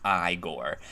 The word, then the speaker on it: Igor: He's like, no, it's pronounced Igor.